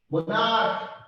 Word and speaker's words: monarch: जेते आपण कर यूज हेती मतलब सीएच बट प्रोनाउंस होतबो आपण कर आर आगे monarch stomach तब लास्ट में कोन यूज होची ए